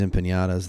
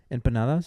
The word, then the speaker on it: empanadas: And they they have these bean and cheese empiñatas that are really good. Are they empanadas? Empanadas. Yeah. There's no like till like wavy thing.